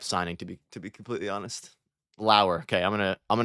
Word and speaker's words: Lauer: Like a flower without the flower. Lauer.